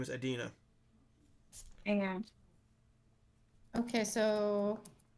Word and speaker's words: Adina: Her name is Adina. Hang on. Okay, so How do you spell it? you're A-D-I-N-A.